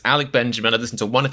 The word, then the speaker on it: Alec Benjamin: Now I'm paranoid I'm saying his name wrong. It's Alec Benjamin, thank goodness.